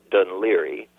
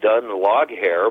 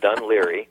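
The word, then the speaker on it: Dún Laoghaire: It's a suburb of Dublin called Dunleary, which, if you were to pronounce it by the way it is written, it looks like Dun log hair, but it's Dunleary, and it's a pretty legendary coastal town.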